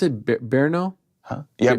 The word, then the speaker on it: Brno: Where, how do you pronounce it? Brno? Huh? Yeah, Brno is my city.